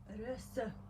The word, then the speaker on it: Röse: Röse. Röse. So It's a letter that it's not in English nor in Hungarian. oh, It's okay. A, but it's short. Short A, Röse.